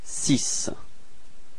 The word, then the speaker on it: six: So it's actually quite strange because it's ending with this X, but then the sound, final sound is S. So you get this six.